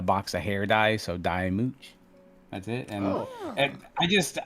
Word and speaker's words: DyeMooch: So is it DyeMooch or DyeMooch, or what's the pronunciation? Yeah, no, it's DyeMooch.